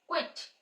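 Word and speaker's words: quit: third आ जाता है क्विट क्विट तीनों में आरहा है क् क्विट अब इसमें शॉर्ट ई मतलब वन सिंबल वन मल साउंड यूज हो रही है क्विट तो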